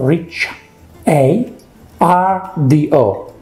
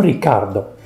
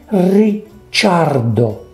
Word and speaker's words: Ricciardo: so daniel ricardo ricardo it's spelled r i c c double c i so rich a r d o so it's called richardo no ricardo deno ricciardo ricciardo you want to say